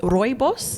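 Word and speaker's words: rooibos: we are currently parched here with our um Roy boss is that how you say it yes yeah perfect oh fabulous um our Roy boss tea it's my first time trying it so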